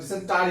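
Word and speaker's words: dysentery: এবার দেখো তোমার ডিসেন্ট্রি, ডিসেন্ট্রি মানে আমাশয়, দেখো ডিসেন্ট্রি মানে অনেক ডিসেন্টারি হবে কিন্তু, উচ্চারণ ডিসেন্ট্রি বাট বানান কিন্তু ডিসেন্টারি, DY, অনেক DI না, DY, হ্যাঁ, SENTRY, ডিসেন্ট্রি।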